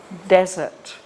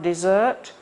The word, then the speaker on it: desert: coming days we print we put the stress on the first syllable sega desert and if we say the other way around dessert it means something sweet to eat after your meal the desert is the